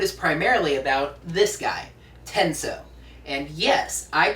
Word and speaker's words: Tensou: note this episode is primarily about this guy tenso and yes I pronounce it tenso as in tenso what I pronounce it that way I've been hearing online that it's pronounced tenu but seeing as they get the name from